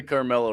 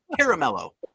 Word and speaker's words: Caramello: I wish I had a Carmelo right now. I'd eat it right in front of your face. Caramello, people. Say it right. Caramello.